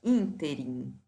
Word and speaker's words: ínterim: me chamar atenção para essa palavra ínterim a que é uma palavra proparoxítona portanto deve ser acentuada a pronúncia é inter